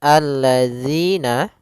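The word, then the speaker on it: الذين: sini maka Kemudian alladzina pada lafal dzi hati-hati jangan sampai terbaca dengan Z karena di sini huruf dalal yang mana untuk huruf Dal sendiri makhrajnya adalah ujung lidah ujung lidah kita menempel dengan gigi seri atas gigi seri atas sehingga atau bisa kita gigit sedikit zzi zzi gitu ya maka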